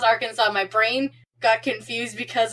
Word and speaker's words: Arkansas: Yes, it is pronounced Arkansas.